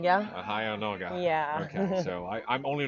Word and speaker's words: Heia Norge: Heia Norge. Heia Norge.